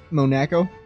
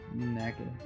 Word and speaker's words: Monaco: Monaco? Monaco. Monaco. It's like a... Monaco. It's like Mona Lisa.